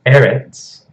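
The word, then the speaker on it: ארץ: So it's eretz. Shegalet nouns are always emphasized on the first syllable, if you remember.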